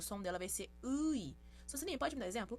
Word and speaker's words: 의: Então, quando começar uma palavra, vai ter som ui. A segunda pronúncia possível é quando ela for indicar posse, né? No caso aqui, a escrita vai ser ui, porém a pronúncia vai ser e.